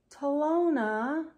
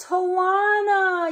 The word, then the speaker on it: Talona: jokes yesterday you told me her name was pronounced talona but it's not it's pronounced Tawana you silly chicky oh it's okay I forgive